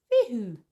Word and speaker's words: Fehu: Pronounced Fehu.